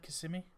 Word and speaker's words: Kissimmee: Is that how it's said, Kissimmee?